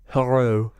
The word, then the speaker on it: Hoarau: Now, how do you pronounce his surname? It's Hoarau. Hello. Haru.